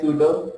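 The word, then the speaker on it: pseudo: known as सूडो code hair P साइलाइन सो द इट is pronounce as सूडो code next point says like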